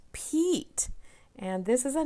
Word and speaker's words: Pete: And this word has the E consonant silent E pattern. This is that silent E that changes a word. If we said this word, it would be pet. But dun, da, da, da, here comes magic E, and it becomes Pete.